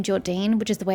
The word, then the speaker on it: Jordine: Because they always pronounced them Jordian when I was doing those quest lines, and I always got annoyed because I'm like, bruh, it's spelt Jordine or Jordane or however you would pronounce it, but it's most certainly not Jordian.